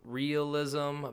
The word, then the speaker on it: Raelism: So some people pronounce it realism, but that gets confused. So it's like Raelism or, something along those lines. I could be pronouncing it incorrect, but I think I'm close enough. So in 1974, a man